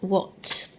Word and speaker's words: what: Remember, on what, the w and the h are just working together to make the w sound. So it's just the at that's being tricky. So this is what. So an at is making an o sound. W-ot, what.